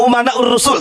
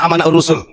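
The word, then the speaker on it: أمناء الرسل: Kemarin menyampaikan begini, Bahar bin Smith, al ulama umanaur rasul, tapi bacanya al ulama amanaur rasul. Saya katakan salah. Kenapa? Karena di sini umana, jama taksir ya. Para ulama itu adalah orang-orang yang memegang amanah Rasul.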